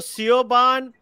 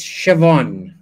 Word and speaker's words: Siobhan: Main bolu, main literal karunga to Sioban. Isn't it Shaban? Yeah, Chaban. It's Siobhan.